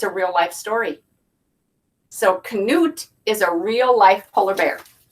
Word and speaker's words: Knut: how to say the right way and it's Knut Knut and it says how one little polar bear captivated the world look at how cute he is and it's a real-life story so Knut is a real-life polar bear all right let's